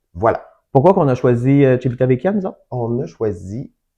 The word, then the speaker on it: Civitavecchia: Je le prononce comme faux? Moi, je dirais Civitavecchia, mais en même temps, je suis pas italien, hein, je parle pas bien l'italien, Voilà.